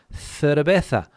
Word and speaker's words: cerveza: So you ask for a beer, you ask for a cerveza, because the Z, when it's followed by certain letters, is also pronounced as a th sound.